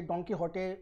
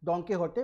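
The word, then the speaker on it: Don Quixote: तो ये डॉन कीहोटे जो है ये स्पेनिश एक नॉवल है, जिसका जो प्रोनाउंसिएशन है एकदम स्पेनिश है, जिसका जिसे हम लोग बोलते हैं डॉन कीहोटे बाय द सर्वेंटे, मैंने सर्वेंटे ने लिखा था।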